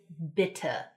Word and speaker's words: bitte: general point for German; they are pronounced. They're not silent like we frequently have in English, but the sound they make is just this really standard, ugly 'uh' sound.